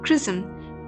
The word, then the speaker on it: XRISM: station a japanese-led mission xrism pronounced prison could launch earlier in